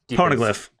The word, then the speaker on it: Poneglyph: Poneglyph. You said it right the first time you said it.